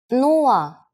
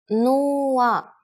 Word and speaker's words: нула: It's similar to one of the versions of zero in English, but with a different pronunciation. Нула. Нула.